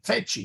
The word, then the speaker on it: feci: Yes, sorry, Feci. feci. Yes. Yeah, you're telling Fido to go get it. Feci, feci.